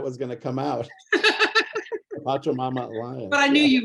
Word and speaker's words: Pachamama: the Hunger Project and go work for the Pachamama Alliance, because she realized saving the jungle would prevent hunger.